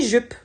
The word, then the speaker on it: jupe: femmes une jupe et on ne prononce pas le E à la fin puisque c'est le E en fin de mot donc il est muet donc voilà c'est parti